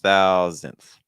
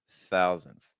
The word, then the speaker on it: thousandth: to pay attention to when you're saying thousandth you're going to notice that the first syllable is your stress so that means that your second syllable is not stressed so that means our first syllable needs to be higher in pitched thou thou and in your second syllable needs to be lower pitch and thousands thousandth okay